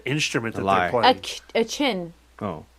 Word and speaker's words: Qin: A chin. Oh. It's a chin? It's spelled Qin.